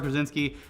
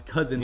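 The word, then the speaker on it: Kazinsky: Most recently, we did Super Fights with Maddox and with Robert Krasinski. And I keep saying his last name wrong. It's Kaczynski. Yeah, you got a real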